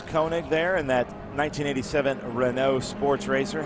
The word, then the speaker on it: Renault: Renault used Monsieur, c'est Renault. Renault used to have an Alliance Cup, and that was the first thing they said. It's pronounced Renault.